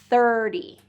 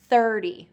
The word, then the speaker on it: thirty: So in tens words, we're gonna stress the first syllable. 30, okay? 30.